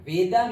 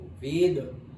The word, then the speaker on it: वेद: वेदा means knowledge. देखो, वेद वेद, वेदा, ऐसे actually वेद ही pronounce करते हैं, लेकिन इंग्लिश में ये लगाते हैं इसलिए हम वेदा पढ़ते हैं।